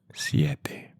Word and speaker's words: siete: The pronunciation of 7 in Spanish is siete. 7, siete. Maybe you pronounce siete, siete, siete, siete, siete. But with practice, you will get it to say siete.